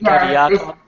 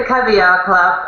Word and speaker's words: Cavia Club: the Cav caviar Club am I pronouncing that correctly the caviar Club it's the cavia club uh but it it's actually has nothing to do with cavia which is something that